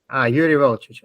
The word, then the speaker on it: Jurij Volčič: So now we have the next talk by, what is the right name to pronounce? Jurij Volčič. Jurij Volčič.